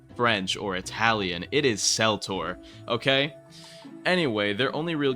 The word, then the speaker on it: Seltor: Before anyone tries to tell me it's pronounced Keltor, no. Seltor in Keltor, it doesn't even make sense because it's not in reference to the Latin pronunciation, and we don't speak French here. The English pronunciation is Seltor and is only used with a K noise in reference to religious meanings such as the Celtic cross. So it is Seltor, not Keltor.